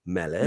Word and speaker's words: Melech: Melech.